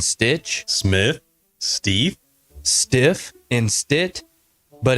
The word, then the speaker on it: Stith: not a myth just call Stith s TI th H sounds just like it's spelled on the next episode